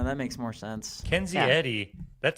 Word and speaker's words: Eddie: Hers isn't pronounced Edie. Hers is pronounced Eddie.